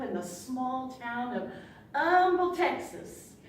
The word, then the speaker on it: Humble: You see, I grew up in the small town of Humble, Texas, spelled with an H but pronounced with an We really did that.